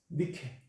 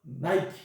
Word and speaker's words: Nike: Nike, 니케. 미국식 발음으로는 나이키.